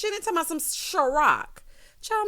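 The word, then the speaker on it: Cîroc: Girl, Taj said, it's Ciroc.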